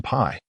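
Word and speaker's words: 否: When heaven and earth do not interact, it results in Pi, pronounced with a third tone.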